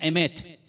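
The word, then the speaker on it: אמת: Y la palabra verdad en hebreo se pronuncia emet.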